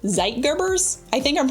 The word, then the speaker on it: Zeitgebers: These internal factors are called Zeitgebers. I think I'm pronouncing it right.